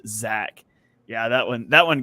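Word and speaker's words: Zech: was yeah it's crazy it's spelled z-e-c-h but pronounced Zach yeah that one that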